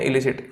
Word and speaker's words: elicit: एक और वर्ड लिखते हैं, इलिसिट, ELICIT। दो वर्ड्स लिख लिए। ठीक है, अब देखोगे दोनों को इलिसिट पुकार रहा हूं मैं, दोनों के प्रोनाउंसिएशन जो है सिमिलर है।